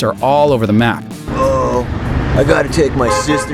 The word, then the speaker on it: oOoOO: Truth is, the name was originally supposed to be unpronounceable, but now the "general consensus" is to pronounce it "Oh."